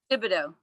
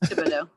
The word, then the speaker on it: Thibodeau: Thibodeau. The H is silent and there's a lot of extra letters, but it's Thibodeau. Okay, Thibodeau.